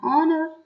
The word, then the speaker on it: honor: examples i'll come after nr and it's an honor so these are examples where h is silent then article a article a is used